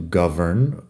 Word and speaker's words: govern: To govern, con V, que pronunciamos v, govern.